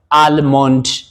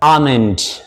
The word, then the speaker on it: almond: ይሄ ከሆነ ለዚህ የሚቀጥለው አልሞንድ እያልን የምንናገረው አመንድ። what is amend?